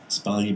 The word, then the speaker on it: Sbaglia: So the S on your name is silent, or is it? Sbaglia. It's on.